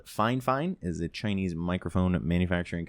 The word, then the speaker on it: FiFine: It's pronounced FiFine, not FiFine or FiFine.